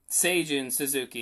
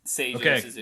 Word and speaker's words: Seijun Suzuki: Seijun Suzuki is the pronunciation.